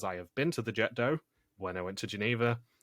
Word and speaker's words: Jet d'eau: It's not Jet d'eau. It's nothing else. It's Jet d'eau. That's how they pronounce it in Switzerland. That's how they pronounce it in France.